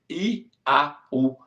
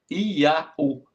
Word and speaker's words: Iau: E na nossa letra, no nosso português, é I-A-U. Iau, Iau, um nome fácil de pronunciar.